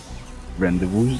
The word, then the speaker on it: rendezvous: Rendezvous, yes. That is the correct pronunciation in French, I believe.